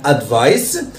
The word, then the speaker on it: advice: Okay, when it's followed by the letter E. حرف C لما بيجي وراه حرف E بيتنطق س مش بيتنطق ك. Okay, يبقى عندنا advice, عندنا برضو أمثلة أخرى